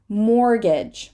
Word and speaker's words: mortgage: next consonant which which mortgage mortgage nobody says the T in the word mortgage and this word can